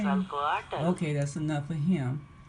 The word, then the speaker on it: Quetzalcoatl: See if we can get a pronunciation out of here. Quetzalcoatl. Quetzalcoatl? Quetzalcoatl. That ain't nothing like what me and King Drop was saying. Quetzalcoatl.